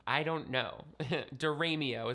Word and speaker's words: DiRamio: Diramio is what I say but other people in my family say Diramio and some online still think it's Damario.